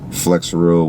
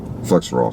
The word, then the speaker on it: Flexeril: There was a plethora of prescription medication bottles, Xanax, Flexeril, which is like a muscle relaxer. Flexerol, sorry.